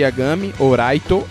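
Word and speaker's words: ライト: e a Gami ou raito e raito seria mais ou menos a pronúncia da palavra Light em japonês O japonês tem uma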